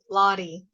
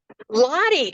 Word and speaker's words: Lodde: Lottie. Lottie. Okay, I didn't know how to pronounce.